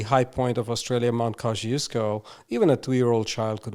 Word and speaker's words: Kosciuszko: Australia, if we consider the country as the continent, the high point of Australia, Mount Kosciuszko, even a 2-year-old child could walk up to the summit of that.